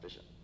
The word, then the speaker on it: phishing: It's spelled with a P, but it's pronounced phishing.